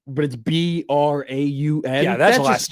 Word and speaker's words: Braun: He's pronouncing his name wrong. It's Braun.